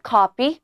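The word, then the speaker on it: copy: 예 아 제나 게라 카피 셰 이자 수첩 복사본 하나만 주시겠어요 뭐라고 지원 하실까요 시작 예 그렇죠 여기서 p 발음을 살려 주셔야만 커피라고 헷갈리지 않겠죠 다음으로 이렇게 얘기할게요 저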